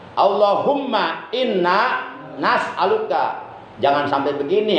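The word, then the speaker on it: اللهم إنا نسألك: bacanya Allahumma inna as'aluka, hamzahnya ganti, itu hamzah mudora'ah, hamzah mutakalim wahdah, ganti dengan nun mal ghair. As'aluka menjadi nas'aluka. Allahumma inna nas'aluka. Jangan sampai begini, Allahumma inna as'aluka.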